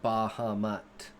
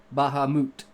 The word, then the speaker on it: Bahamut: In context, Bahamut to me is actually a Japanese word because it comes from Final Fantasy.